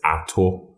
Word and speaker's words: Ato: Oh, it's mispronounced all the time because you have to be Ghanaian. It's Ato. But if you don't have a Ghanaian accent, you're not going to say it right. Right. You know what I mean? So some people say Ato, some people say Ato. And if you're Ghanaian and saying Ato, then you have a problem.